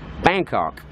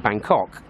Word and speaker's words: Bangkok: Well, the Thais pronounce it in the American way, where the emphasis is on the first syllable of Bangkok. So they pronounce it Bangkok, like the Americans would do.